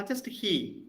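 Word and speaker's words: היא: No, just he, because all of is silent, no?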